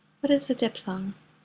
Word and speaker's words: diphthong: We pronounce it diphthong, but we spell it ph.